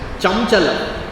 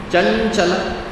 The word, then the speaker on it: chanchala: Chanchala when you write it you don't pronounce it as chamchala. Though it is the anuswara the bindhi there you would pronounce it as chanchala.